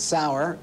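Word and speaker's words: Saurer: you say it for me so I don't mispronounce it it's sour it's trading on eight times earnings with 40%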